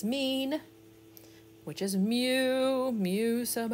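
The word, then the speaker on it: μ: It's pronounced mu.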